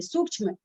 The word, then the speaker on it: सूक्ष्म: सूक्ष्म आधा छ है, पूरा छ नहीं है।